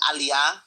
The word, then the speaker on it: aliyah: So instead of saying aliyah, which is, you know, the naturalization process in Israel, she kept saying, uh, what did she say? Allayia.